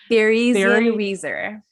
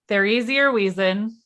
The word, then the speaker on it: Theresienwiese: on the grounds of I wrote this out phonetically, guys, but it's still a lot. Theresienwiese. Thank you. That's more German than Sam. Okay. Theresienwiese.